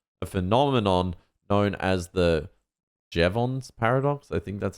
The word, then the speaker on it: Jevons: increase in efficiency, a phenomenon known as the Jevons paradox.